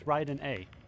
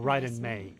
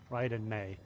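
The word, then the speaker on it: Raiden Mei: I can't remember her name in this, but it's Ryden A. Oh, or Ryden May, I should say, not A. Ryden May.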